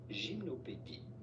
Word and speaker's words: Gymnopédie: How do you go about pronouncing their name in French? This would be said as gymnopédie. Gymnopédie. Gymnopédie. But it'd be fine in English to call them gymnopédie. Gymnopédie from French gymnopédie.